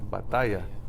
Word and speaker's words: batalla: It goes on the second to last syllable, which is what? It's that A right there. And how do you say it? Batalla. You say batalla. You're putting the stress there.